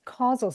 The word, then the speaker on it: causal: When you read causal, you spelled it casual, or you pronounced it casual, which is interesting, but it's causal.